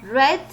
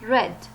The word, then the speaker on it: read: notify the regular world note that sometimes the spelling doesn't change but the pronunciation does in the example of read read will become red and the past participle will become red the spelling is same but the pronunciation is different there are many more